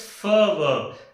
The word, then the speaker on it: fervor: This is called as fervor. I think I have studied one very important rule when the vowels are followed by R. When the vowels are followed by R, R is not pronounced.